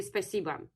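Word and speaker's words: спасибо: Yeah, so to say thank you in Russian, see James, it will be spasiba. It's written with O, but in Russian it's pronounced with spasiba.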